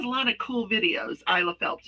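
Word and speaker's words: Isela Phelps: in there then the next one is my isle of phelps which she has a lot of cool videos isla phelps it's spelled i-s-e-l-a-p-h-e-l-p-s she's on she does a lot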